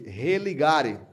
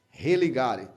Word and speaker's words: religare: Porque a palavra religião, ela vem do latim, que é pronunciada de religare. Religare.